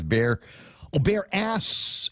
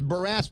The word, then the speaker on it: Barras: I'm not sure if you can see it up on the screen either, but it says bear ass and Barras. It's Barras Beach. Barras.